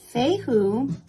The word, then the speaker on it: Fehu: say who is pronounced it represents the elder futhark runic letter